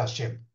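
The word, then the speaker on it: השם: de meditar El Salto nombre he Shin mem que se pronuncia hashem la ahora hagamos la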